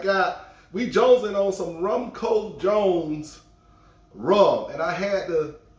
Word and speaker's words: Rumcojones: bottles of this uh i used to say all the time rumco jones but i think you know it's uh like you were telling me it's a wrong component it's all both pronunciations i think uh some people say wrong code jones but i think it's wrong cojonas i like that jones